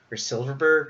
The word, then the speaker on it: Silfverberg: thorn in the Oilers' back has been Jakob Silfverberg, or however you pronounce his name. Silfverberg, you're right.